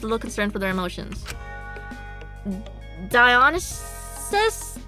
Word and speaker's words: Dionysus: Let's do pronunciation. Dionysus.